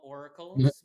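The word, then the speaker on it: Aurical: like a chi blocker they're called oracles but it's spelled like a-u-r-i-c-a-l yeah because they deal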